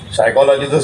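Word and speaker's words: psychology: लिहायचं बोलताना फॉक्सवगन म्हणायच सायकॉलॉजी स्पेलिंग पी पासून करायच पी म्हणायचंच नाही म्हणे अस दळबद्री भाषा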